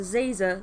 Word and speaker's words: Zazer: It's Professor Zazer, like a laser with a Z.